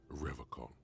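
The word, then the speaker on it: Revachol: stay strong forever call he pronounces rivercon with a hard K unlike other people serious question time this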